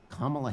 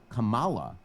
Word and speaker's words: Kamala: if you you son of a if you mispronounce Kamala Harris's name if you say Kamala as opposed to Kamala if you put the